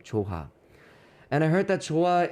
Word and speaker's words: JOHA: So that is like the spelling is kind of different, but the way you express and you pronounce the word is the same pronunciation.